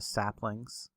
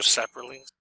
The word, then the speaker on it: sapling: I'll refrain from adding my R to saplings today. Since we're doing the correct pronunciation day, so it's no more sapperlings. No more sapperlings for this episode.